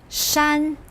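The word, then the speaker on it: 山: few characters that have to do with nature shan pronounce with me shan this means mountain as we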